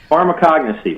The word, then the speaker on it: pharmacognosy: You have a doctorate in something I had not heard of, and I'm going to try to pronounce it. Pharmacognosy. Okay, take over, Dan. Not bad. Okay. Pharmacognosy, Mark.